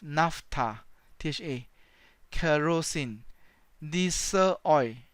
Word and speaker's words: naphtha: spelling for example NAFTA and a pH pH pronounces F NAFTA TJ rows in this